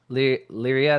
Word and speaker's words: Lyria: And so the only outside thing is our screenwriting and but then the music as well, which Lyria, that's what it is.